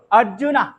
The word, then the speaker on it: অর্জুন: মাধব লিখে দিয়েছিলাম না, এটার উচ্চারণ মাধবা, মাধবা, উচ্চারণটা এরকম হবে মাধবা। অর্জুনা, অর্জুনা, কৃষ্ণা, কৃষ্ণা, অটা একটু উজ্জ্বলতর ভাবে উচ্চারণ হবে, ঠিক আছে?